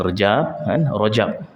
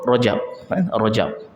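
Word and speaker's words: رجب: masuk ke dalam bulan Rajab itulah bulan Rajab Jangan sebut Raja sebut Rajab saya pun tak paham kenapa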